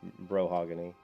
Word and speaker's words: Brohagony: I guess you're talking about Brohagony. Brohagony. How do I pronounce that? I always think of mahogany when I see it, so it's Brohagony.